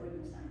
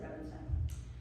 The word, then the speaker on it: Rubinstein: I would have said Rubinstein, but they said Rubinstein.